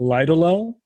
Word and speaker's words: Ledoliel: It's called Lidolel. It's spelled Ledoliel.